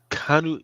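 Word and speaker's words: Keanu: been going absolutely freaking crazy uh Canal re canu it's not Canal how do you say it kuu kuu Canal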